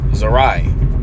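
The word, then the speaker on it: זרע: her seed K seed zarai okay zarai is how you say seed okay one second here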